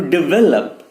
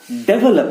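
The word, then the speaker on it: develop: जैसे कि मैंने कहा, it will take some time for India to डेवलप this technology. क्या? डेवलप नहीं, इट्स डिवेलप, डिवेलप, डिवेलप, डिवेलप, डेवलपमेंट, नॉट डेवलपमेंट, इट इज डिवेलप।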